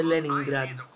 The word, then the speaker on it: Leningrad: Να το προφέρετε σωστά, λέγεται Leningrad.